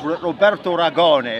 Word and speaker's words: Roberto Ragone: Yeah, so, and by the way, if the people in Italy, right, it's Roberto Ragone, if you like it pronounced that way, for authenticity.